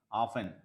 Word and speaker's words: often: silent match bomb silent often T silent half an hour okay